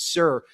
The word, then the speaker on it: Sur: You pronounce it Sur in Arabic.